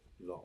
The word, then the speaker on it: law: a thw so like like the word law law you don't really pronounce a w in there law but it does